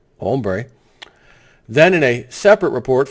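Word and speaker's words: hombre: unable to stop the bad home bra down there or pronounced ombre then in a separate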